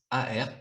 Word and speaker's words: Aerth: Cette marque s'appelle Aert, si je le prononce bien, si je la prononce C'est bien.